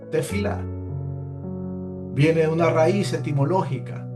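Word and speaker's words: תפילה: Se pronuncia tefila.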